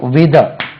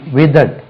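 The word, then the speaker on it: withered: ditch E ஆர் இடி விதட் விதட் w ditch E ஆர் இடி விதட் உச்சரிப்பை கவனிங்க வித வித வித்ட் என்று உச்சரிக்கக்கூடாது வித்ட் வித விதட் விதட் விதரிங்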